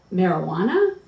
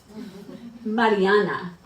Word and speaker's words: Mariana: When people see my mom's name written out, they say, how do you say it? Marijuana? Mariana, I shoot back.